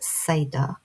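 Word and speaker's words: seiðr: Hedge riding is very shamanic and incorporates the art of sea, pronounced seda, which is from old Norse.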